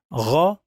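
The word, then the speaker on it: ر: And so pay attention to the sound. Ra, kha, ra, kha. I know that many of you would say they are the same, but they are not.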